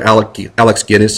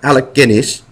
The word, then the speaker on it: Alec Guinness: Alex Guinness is his name. Alec, sorry, he's British. Alec Pip-Pip, Governor. Alec Guinness.